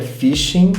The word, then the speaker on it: phishing: O próximo termo é phishing, se escreve com a letra P e remete à palavra fishing, de pescaria em inglês.